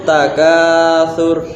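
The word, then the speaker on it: التكاثر: amma itu surat At-Takatsur, harus hati-hati cara pembacaannya, jangan sampai dibaca Alhaakumut takatsur. Nah, nggak boleh ya, karena di sana tidak ada huruf yang memerintah dibaca panjang.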